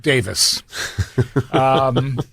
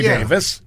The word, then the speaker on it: Davies: I'm going to apologize to the Summit's resident ghost, Jim Chenot, who argued with me that it is pronounced Davis. Ray Davis.